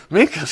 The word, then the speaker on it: Minkus: Does it rhyme with Stinkus? Yeah. Minkus, Stink. Yes, it does.